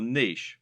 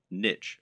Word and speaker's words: niche: Or, to use the correct internet business parlance, what is your niche, or niche as some people pronounce it?